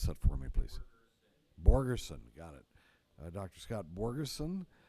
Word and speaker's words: Borgerson: Scott Borgensen, or go person. How do you pronounce that for me, please? Borgerson, got it.